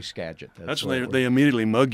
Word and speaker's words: Skagit: it's a little easier it's just Skagit GPSS geget yeah but you don't want to pronounce that it's you know you want to got to do Skagit that's later they immediately